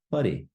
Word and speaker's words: whare: So we have our WH creating a f sound. We have an R. Again, in Te Reo Māori, we roll our R's. So whare.